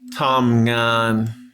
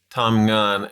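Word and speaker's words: ทำงาน: say work in Thai Tom gun two syllables same thing two flat tones um yeah means work Tom gun actually breaks right here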